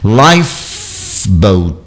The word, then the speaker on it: lifeboat: Lifeboat, olha lá, o life, esse E do life não é pronunciado, é lifeboat, boat, e